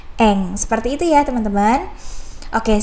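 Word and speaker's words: 円: 500 Yen seperti itu Nah memang cara pengertiannya adalah Yen tapi untuk kanji Seperti ini cara bacanya adalah Ang seperti itu ya teman-teman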